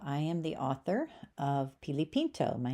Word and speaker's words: Pilipinto: Hello, I am the author of Pilipinto.